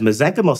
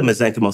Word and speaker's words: mesenchymal: Whereas mesenchymal stem cells, they have a finite ability to grow. So they don't keep growing, which is why they're safe. And so when we grow the mesenchymal stem cells, the soup that they grow in,